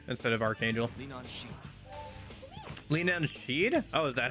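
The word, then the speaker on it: Leanan Sidhe: Lean See instead of Archangel. Linan Sheeed. Oh, is that how that's pronounced?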